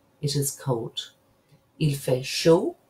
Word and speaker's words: chaud: Now you can see that that's C-H-A-U-D, and it's not spelled, it's not said at all the same way as it's spelled, right? So, il fait chaud. That's how you pronounce that.